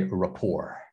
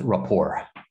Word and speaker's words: rapport: in english we say rapport so the t is silent because in french the last letter is typically silent so just rapport okay yeah rapport okay so what does